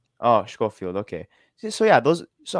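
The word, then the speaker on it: Schofield: stekline and we have kendall uh coiny uh shofield if i'm sorry for the pronunciation oh scofield okay so yeah those so as you can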